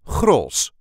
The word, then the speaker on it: Grolsch: accent the Dutch beer cross this is the way we say CR CR the CH at the end is never really pronounced it's just an SOS